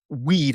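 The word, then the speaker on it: Wied: So, what we know is that on October 27th, Tony Weed, I believe it's pronounced weed, might be wide.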